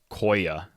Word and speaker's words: Quoia: in the set apparently it's pronounced koya because it's short for the real name sequoia why didn't they just